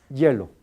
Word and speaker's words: hielo: produciendo qué la fricción Entonces no son vocales sino son consonantes fricativas hielo hielo por por lo tanto ahora este algunos coreanos yo cuando yo Yo oigo la pronunciación de los coreanos siempre produce no produce fricción sino que produce un sonido vocálico ahora ya sabrá que porque